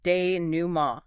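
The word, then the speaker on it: dénouement: The French word denumo, pronounced deuma.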